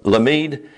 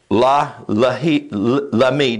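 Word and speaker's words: למד: It's the Hebrew yod, lamid, yod, lamid. And it's pronounced layil. Lamid. That's how that glyph is pronounced, lamid.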